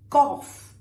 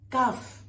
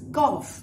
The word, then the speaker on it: cough: Next is cough, not cuff. It's cough, and it rhymes with trough, which is where, well, animals drink or eat, right?